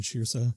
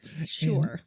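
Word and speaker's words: Saoirse: starring Sam Rockwell and shirsa shirsa Ronan is that how you say that I always wondered you know looking at that s-a-o-i-r-s-e and yes it's Irish and it is pronounced sure so so they can't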